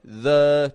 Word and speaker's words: the: Now, as I mentioned, there's this second pronunciation. The, very commonly used. Now, you see, this happens if the word after the begins with a vowel. A vowel sound. Then we say E, as a long E.